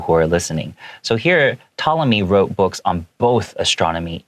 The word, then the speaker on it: Ptolemy: 它是 P 开头的，但是我一听到，他怎么没有发那个 P 的声音呢？因为这个 P 不发音，所以你可以在这个 P 上面打一个小叉叉，告诉你说，哦，这个字不发音哦。所以 Ptolemy 就是这个当时这个希腊的一个数学家跟天文学家。Wrote books on both astronomy，他同时有写这种天文学的书，the study